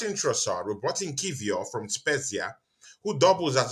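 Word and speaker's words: Kiwior: It's pronounced Kivior.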